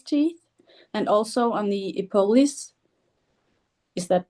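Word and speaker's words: epulis: Um and I try to brush his teeth and also on the epol. Is that pronounced correctly? Yeah, that's fine. You're you're doing great. Yeah, epulus.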